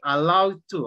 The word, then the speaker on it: allowed: okay it's very similar the only thing is that you have to pronounce also the d at the end and then the two